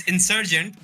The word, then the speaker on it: Insurgent: আমরা গেমটা দেখতে পাচ্ছি amongst Warbex Esports versus Insurgent Tennos. I mean, did I say it right? Yeah. What should I say? Okay. Well, it's Insurgent, but you said it anyway, so it's worse.